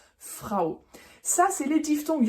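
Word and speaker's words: Frau: le a ou qui se prononce ao ao comme dans Frao par exemple la femme Frao ça c'est les diftong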